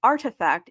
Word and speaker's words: RTFKT: So, RTFKT, which uh is pronounced as Artifact, is Nike's fourth brand alongside Jordan and Converse brand.